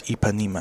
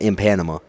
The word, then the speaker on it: Ipanema: I'm pretty sure it's Ipanema. It's definitely not in Panama. No, in Panama.